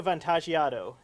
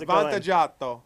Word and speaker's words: Vantaggiato: It's Vantaggiato. Vantaggiato? You got to say it like an Italian, like you want a pizza.